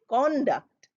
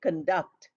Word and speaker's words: conduct: pronunciation I told you when it is used as a noun we say conduct and when we use it as a verb as we are using here we say conduct C Co becomes C